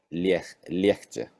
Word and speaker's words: легче: Но произносится легче.